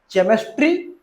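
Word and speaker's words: chemistry: जैसे कि CH okay केमिस्ट्री कि केमिस्ट्री।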